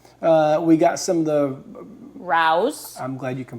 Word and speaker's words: Rao's: Rao's. I'm glad you can pronounce it correctly.